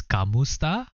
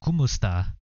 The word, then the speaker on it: kumusta: I don't know why it says kamusta, but it's pronounced kumusta.